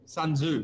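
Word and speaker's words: Sun Tzu: I think it's Sunzu who who you're quoting from him. Thank you Andrew. Thank you for appreciate you watching. Sunzoo you pronounce it right.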